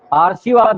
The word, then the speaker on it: आशीर्वाद: अब पढ़िए इसको, आशीर्वाद, आशीर्वाद, ये हो गया। आ के बाद अर पढ़ना है, आरशी, आरशी, वाद तो अपने में अलग है, दिख रहा है ये, वाद में क्या वाद विवाद, वाद तो अलग है, तो आशीर्वाद, आशीर्वाद, तो बोल करके भी